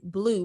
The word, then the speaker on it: Bleu: It's spelled Langston, Blue, like blue cheese, BLEU.